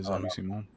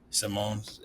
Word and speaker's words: Simons: Um, so yeah, I mean it'll be Javi Simmons. Simons, how how do you say his last name? Yeah, Simone. Simone.